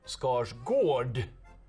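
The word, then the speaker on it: Skarsgård: You know, we say Alexander Scarsgard, we will acknowledge that there is an appropriate way to say it like this with Alexander Scarsgard or Scars Gord as we say in the north.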